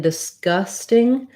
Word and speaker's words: disgusting: word disgusting disgusting and even though in disgusting we do have a g disc disgusting it really often does sound more like a k disc disgusting because we